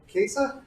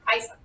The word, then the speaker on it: Kaisa: Okay, is it Kesa? Kaisa. Kaisa.